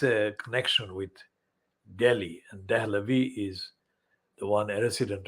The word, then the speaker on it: Dahlavi: Now, Dalvi is spelled Dalvi. That is actually a distortion, anglicized distortion of Dahlavi.